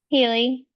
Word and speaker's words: Halie: Um, so take it away, Haley. Hi. I'm sorry if I mispronounced that. Haley.